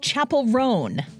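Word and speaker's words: Chappell Roan: year-end list correspondent Margie zaretta has the most mispronounced names of 2024 the singer of good luck babe it's Chapel rone the language learning company Babel and close captioning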